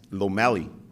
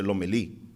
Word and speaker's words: Lomeli: uh the office that read my name as lomali when my family pronounced the lomeli maybe this was why